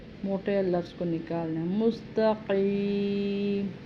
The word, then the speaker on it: مستقیم: لفظ کو نکالنا ہے۔ مستقیم، قاف کو بھی حلق سے اور موٹا پر پڑھنا ہے۔ پھر اسی طرح صراط